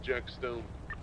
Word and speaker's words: Jack Stones: jack frost jack uh it's spelled jack stones he says the second s on stones is silent so it's jack stone bdr hicks i think